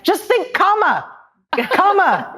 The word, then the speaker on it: Kamala: excited I'm telling people how to pronounce her name it's comma and it means lotus in h I'm telling you